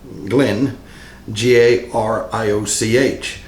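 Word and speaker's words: Glengarioch: Now, don't confuse that with Glengarry, the single malt, but it's spelled Glen, Garrioch. Glengarrioch is the way it's spelled, but it's also pronounced Glengarry.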